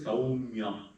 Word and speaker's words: Saumya: Suppose I say Saumya. How many syllables are there? Two and a half. Say two syllables. Okay? So Saumya. The syllable is counted only when you encounter a vowel. No, vowel. So in Saumya, there are three consonants. Sa, Im, Ya. Right? But how many vowels are there? Au, A. That's all. So therefore you say only two syllables.